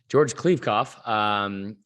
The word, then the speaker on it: George Kliavkoff: George Kliavkoff. We need to do it's not a spelling bee. It's just me pronouncing words from like the Big Ten and the assistant coach for Michigan's name.